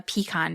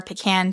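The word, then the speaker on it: pecan: old giant of a peacon tree or pean tree depending on how you like to pronounce it its tall straight trunk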